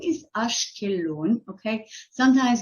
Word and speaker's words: Ashkelon: refer to the name so the name is ashkeloon okay sometimes it's spelled with a K sometimes it's spelled with